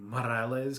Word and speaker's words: Morales: kind of just start bickering about how to pronounce Morales because Prowler Miles pronounces it like with the rolling Morales kind of thing, and then R Miles is like no.